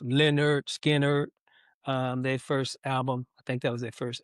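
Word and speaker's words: Lynyrd Skynyrd: Uh Lennon Skinner pronounced Leonard Skard.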